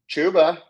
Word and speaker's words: Chuba: over my last player his name rhymes with schuba it is chuba chuba Hub has backtack